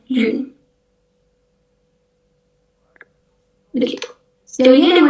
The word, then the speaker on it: lune: Huruf E terakhirnya nggak bisa, jadi cuma lune.